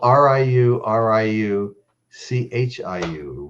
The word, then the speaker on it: Riu Riu Chiu: And that's spelled r i u r i u c h i u. Riu Riu Chiu is as close as I can get.